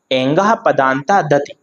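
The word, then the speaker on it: एङः पदान्तादति: तो उच्चारण इसका एंगह, साथ में बोलिएगा आप लोग, मेरे साथ साथ रिपीट करिएगा, एंगह पदांता, एंगह पदांता दति, एंगह पदांता दति।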